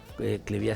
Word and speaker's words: Cleviá: Cleviá se escribe con Bechica y acento en la A.